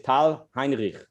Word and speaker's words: Tal Heinrich: york but uh israeli and her name is tal heinrich oh my god you said it perfect you pronounced it amazing thank you great to be